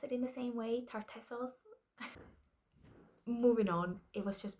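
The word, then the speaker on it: Tartessos: Yes, I think you pronounce it in the same way. Tartesos.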